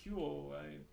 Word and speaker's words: Hu: It's not not Hu, but Hu Chinese or Mandarin pronunciation most likely.